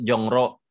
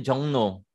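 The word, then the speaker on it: 종로: ada tulisan seperti tercetak harusnya ditulisnya jongro tapi dibaca tuh jongno Om Iya ada seperti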